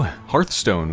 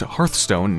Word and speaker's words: Hearthstone: everyone welcome back to hearthstone which is apparently actually pronounced hearthstone not hearthstone all right time for